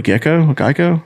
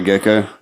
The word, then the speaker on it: gecko: just be like I don't know how to pronounce this word, a Geico? Yeah. I don't know. Is it Geico? Because that's insurance and that's their mascot. You talking about a gecko?